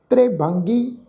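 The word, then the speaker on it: ਤ੍ਰਿਭੰਗੀ: ये जिहड़ा शब्द है जी त्रिभंगी, इनू आपां तत्ते नूं जिहड़ी सिहारी लगी हुई है जी, ख्याल रखो ये रारे अखर नूं लग के सिहारी उच्चारण होएगी, क्योंकि तत्ते दे पैर च तुसीं देखो भी अद्धा रारा लगा हुआ है।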